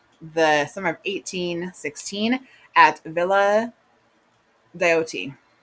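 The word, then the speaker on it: Villa Diodati: And then we have the summer of 1816 at Villa Deote. That's how you say it.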